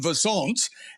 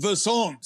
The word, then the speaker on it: Versant: of the parent company, which I keep pronouncing Versant. And I was called out on a podcast with Alex Sherman from CNBC, who just said, it's Versant. It's like, and Versant, conversant.